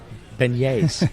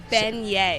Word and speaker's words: beignet: Beignets. It took me a second. And I keep thinking about the hat you got in there that phonetically. Beignet.